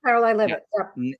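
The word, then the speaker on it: Caroline Leavitt: Bryce was written by was it Carolyn Levit? Is that how you say it? Yes, Caroline Levit.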